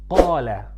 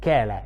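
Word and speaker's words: قال: For example, when I say qala, qa, qala, qala, it's not kala, it's qa, qa, from deep in your throat.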